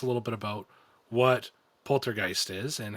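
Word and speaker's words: Polter(g)heist: t so i say poltergeist poltergeist like it doesn't matter um it's meant to look like the word poltergeist but with the word heist at the end if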